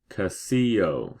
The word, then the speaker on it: Quesillo: Quesillo, I said, sounding out the word. Flora and Fabiola nodded approvingly. It's pronounced Quesillo, said Fabiola, but you are learning very fast, Naomi.